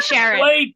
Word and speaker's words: Sharon: I will be Sharon. Rhyme rhymes with Karen.